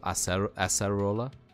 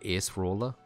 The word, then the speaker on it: Acerola: So Acerola, as opposed to Ace Roller, which I guess makes sense.